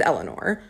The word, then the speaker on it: Eleanor: So my name is Eleanor. I go by, which is like the first syllable and the stressed syllable.